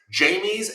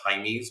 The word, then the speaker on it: Jaime's: Jamie's at Blue Reef. That's actually pronounced Jaime's, but we're not from Mexico here.